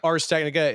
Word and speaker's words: Ars Technica: be saying it wrong I always said AR ARS Technica is it RS Technica RS Technica it means uh the